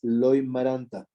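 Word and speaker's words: Loimaranta: And yes, the proper way to say this is Loy-Maranta, okay?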